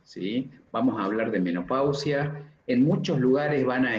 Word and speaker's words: menopausia: se escribe con ese, no es menospausia, es menopausia el término.